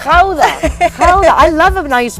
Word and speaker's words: Gouda: Oh, the Gouda. We say Gouda. Gouda. You say it so beautifully. How do you say it in the Dutch? It's Dutch is Gouda. Gouda.